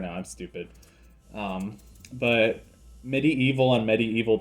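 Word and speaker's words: MediEvil: watching Medieval 2 now some people might pronounce it medieval too but it's like spelled in such a way where it's a pun on medieval and the word evil so I like to pronounce it Medi evil so that the pun comes across I don't know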